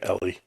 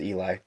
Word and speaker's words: Eli: I've been pronouncing it Ellie. so okay. So most people do, but it is Eli, and so she's from Washington State, and we met through TikTok during quarantine.